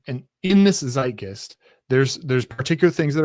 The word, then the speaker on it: Zeitgeist: I don't know how to pronounce it. Zeitgeist and part of that is there's the Overton window.